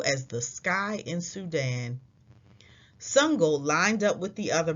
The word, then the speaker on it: Sangoel: he would call next my name is sungol he said before the coach could say it wrong as sungo walked home from practice one of his teammates ran up hey sango my name is sungol